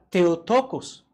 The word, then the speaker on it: theotókos: sale una palabra y theotókos suena extraño pero es como se escribe theotókos y como suena es una palabra que